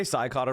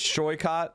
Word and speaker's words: Shycott: Did I say Scycott wrong again? It's Shycott.